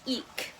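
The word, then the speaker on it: Ik': me here okay so it's actually pronounced eek um and it's common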